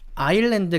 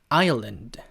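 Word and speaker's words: Ireland: 한번 마지막으로 자아 이랬는데 라고 알고 잇는거 아일랜드 가 아니고 아 이었는데 아이온 했는데 라고 발음이 된다는거 기억해 보시면 되겠습니다 자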